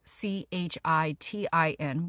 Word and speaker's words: chitin: Again, chitin, spelled CHITIN, which you have to break down off that mushroom to get the health benefits, is pronounced chitin.